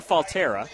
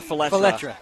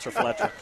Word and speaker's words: Faletra: Start at left tackle with sophomore John Falterra, or Faletra. As now I know how to say it. Faletra.